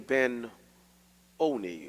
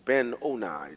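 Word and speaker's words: Ben-Oni: she called his name ben oni or ben owner depending on whether you want to pronounce a hard long eye or short but his father called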